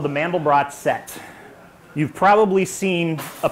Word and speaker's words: Mandelbrot: The Mandelbrot set is named after a guy named Benoit Mandelbrot, but of course in America we mispronounce it and we say Mandelbrot.